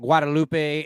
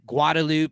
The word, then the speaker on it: Guadalupe: call it the Rio Grande we call it Guadalupe instead of like guadaloop because like living in El Paso versus Austin